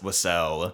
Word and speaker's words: Wiseau: We're going to pronounce it Wiseau. It's probably wrong. It's probably wrong. I think there are other pronunciations I've heard, but that's what we're going with.